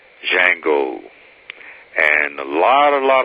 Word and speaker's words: Django: the name of it the d is silent django and a lot a